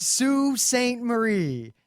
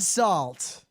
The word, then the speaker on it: Sault Ste. Marie: But the most important thing is that it's pronounced Sault Ste. Marie, not Salt.